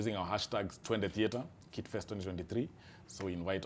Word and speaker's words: Twende Theater: Twende Theater.